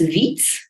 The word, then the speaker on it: Widz: My last name is pronounced Widz, so my name is Widz.